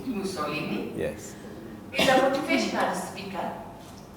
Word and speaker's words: Musolini: Am I pronouncing it right? Musolini. Musolini.